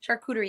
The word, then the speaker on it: charcuterie: it was a perfect time for what is charcuterie I love this wait a second what the f is am I saying it right charcuterie yeah charcuterie charcuterie is when you have a